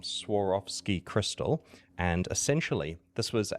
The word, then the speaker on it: Swarovski: Uh yeah, so that's S Swarovski. Sorry, I'm pronouncing it wrong. Sarovski crystal.